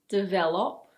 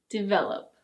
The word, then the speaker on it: develop: It's not "di-ve-lohp". It's: develop.